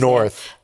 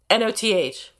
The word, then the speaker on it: Noth: North. Noth. It's not North?